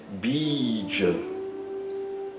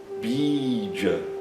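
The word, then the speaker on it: बीज: Um exemplo de palavra que utiliza esse i longo é bídia. Bdia.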